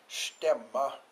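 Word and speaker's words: Stämman: We have just had our stemma, if you're Scandinavian, or stammen is the way it's spelled, and that's a Scandinavian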